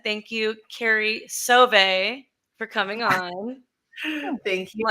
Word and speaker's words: Sauve: Carrie Soav and Associates. I said it right. Sauve. Oh my God, Sauve. I thought I had it. Sauve. That's okay. That's okay. Sauve. The charm.